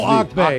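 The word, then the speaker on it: Auke Bay: That's what you were trying to pronounce. Oh, Auk Bay. Auk Bay.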